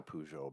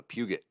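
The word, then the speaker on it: Peugeot: shop and uh so we actually had a pujo back in the day like that was not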